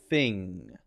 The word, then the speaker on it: thing: the correct th sound then the unvoiced sound which i've marked with an n not voiced is f thing and again i can